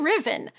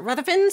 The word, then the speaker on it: Ruthven: There are many ways to pronounce this name. It's technically a Scottish name, so it should be Riven or Ruthven, but most people pronounce it Ruthven, so that's what I'm going to go with.